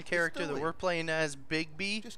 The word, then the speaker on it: Bigby: that we're playing as bigby like big bad big b except his name is spelled b-i-g-b-y i think that's pretty